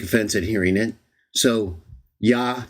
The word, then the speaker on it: Jah: Witnesses of J so even though I believe it's to be pronounced yah and I'm okay with Yahweh or yah I prefer y ja in English